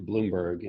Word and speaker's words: Blumberg: germany shortened it to bloomberg and i and and we pronounce it bloomberg because we're in the u.s and that's what we